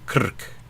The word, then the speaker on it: Krk: Melnice, Vrzici, Crni Kraj, Pijavica, Bunica, Bashka, Sveti Ivan, Stara Bashka, Punat, Krk. A vowelless name. The R is a syllable.